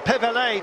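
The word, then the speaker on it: Pévèle: It's sector 10 on the countdown, the Mons and Pevelay. But we are waiting, Pevela, beg your pardon, no accent on the final E.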